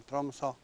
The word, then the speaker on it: Tromsø: Tak, po dwóch godzinach umiem wymawiać nazwę miasta. Tromso.